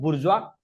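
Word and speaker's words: bourgeois: मैं बोल रहा हूं बुरजवा। स्पेलिंग बोर्गस है। बी ओ यू आर जी ई ओ एस आई ई।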